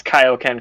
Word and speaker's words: Kaio-Ken: I mean Kio I mean Kaio-Ken from the early days of Dragon Ball. And Peter Kamis even poked fun at that was like, "Yeah, I did pronounce Kaio-Ken correctly."